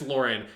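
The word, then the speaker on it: Loran: ever do that and it's spelled l-o-r-a-n but supposed to be pronounced lauren it comes sometimes goes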